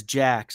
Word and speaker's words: Jacques: Apparently it's Jacques. I was reading through it last night. It's a weird, it's a French etymology, but they pronounce it American.